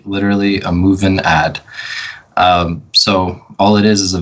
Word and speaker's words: MovinAd: MovinAd? Yep, MovinAd.